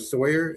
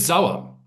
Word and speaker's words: Sauer: I work at the University of Toledo and I'm hosting Sawyer. Is that how you pronounce it? It's Zawa.